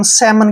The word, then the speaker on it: salmon: कहने का मतलब ये हुआ, इसको हम काम क्यों पढ़ते हैं और इसको हम सेमन क्यों पढ़ते हैं, दोनों ही वर्ड में एल साइलेंट क्यों है।